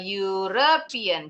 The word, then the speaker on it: European: Kalau misalnya itu kan betul e kalau misalnya ada barang banyak European ini puny huruf Y depannya eh European.